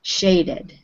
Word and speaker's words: shaded: The ending, the ED ending, will make it sound like an extra syllable on the word. So, started, shaded.